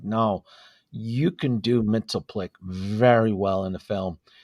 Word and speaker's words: Mxyzptlk: And it was Brainiac and then a sub-story of Mxyzptlk, which I think, or depending on how you pronounce him, because I know in the Lewis and Clark show, the 90s, they pronounced him Mxyzptlk.